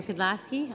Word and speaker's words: Pidlaski: Turning to Villa Rosa Incorporated, and I may have this name wrong, Ms. Pedlasky. That's correct. Okay. Thank you for having me here today. I'm Mary Pedlasky.